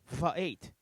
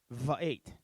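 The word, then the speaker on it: וְאֵת: Okay, and we're going to pronounce it Va'et. Va'et.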